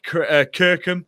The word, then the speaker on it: Kirkham: I've got a guest today, Jake Kirkham. Have I pronounced your surname right, Jake?